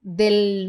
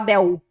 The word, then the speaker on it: del: Esse L aqui, ó, ele não pode virar U, tá? Você pode querer falar del. Tem brasileiros que falam del mundo. Pero es una L bien pronunciada. Del mundo, ¿ok? Moraleja, di.